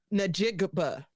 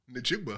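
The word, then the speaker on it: Njigba: I did when Duski could not pronounce Najigba. Najigba's last name. His name is Jackson Smith Najigba. Who he called him? And Drewski said Nigba.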